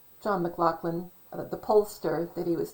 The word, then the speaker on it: McLaughlin: So it's funny because most people will go McLaughlin when it's spelled McLaughlin. They'll say McLaughlin with like an F in there.